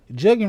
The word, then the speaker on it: jugging: Jugging rhymes with mugging and spread from Texas to South Carolina, Fox News senior correspondent Blase said on American Report Friday.